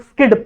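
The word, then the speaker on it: SCID: क्या बोलते हैं एसजीआईडी जिसको हम लोग स्किड प्रोनाउंस करते हैं ठीक है तो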